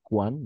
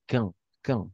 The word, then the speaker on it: quand: Quand, es cuán, ¿no? Lo has dicho cuán. Mhm. Entonces, quand. Solo, o sea, la uno pronunciamos quand.